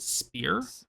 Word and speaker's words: SPYR: There's a couple examples that we talked about on the release episode, like the Yeet Hammer by Spire, SPYR. I think they actually pronounce it Spear. I think it's Spear makes.